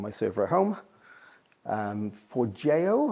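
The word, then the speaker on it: Forgejo: um for JO I believe is the right way to pronounce it.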